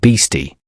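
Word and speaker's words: bhisti: the arrival of the bisti pronounced beasti the Water Cellar with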